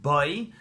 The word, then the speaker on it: Bo: This week's Torah portion is called Parshas Boi, or Bo, or Boi, depending on how you pronounce it.